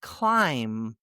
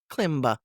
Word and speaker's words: climb: As in thumb, Thumb, lamb, lamb, Lamb, and climb, Climb. Not thumba, not lamba, not klimba, but thumb, lamb, and climb.